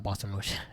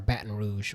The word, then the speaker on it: Baton Rouge: um boston rouge um not the boston rush i pronounced it wrong um the by the block um was for baton rouge which is um in